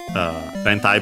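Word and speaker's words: 連体: And yeah, so it's this form that luckily for us in contemporary Japanese, rentai, by the way, the usual Chinese compound, so luckily unaccented.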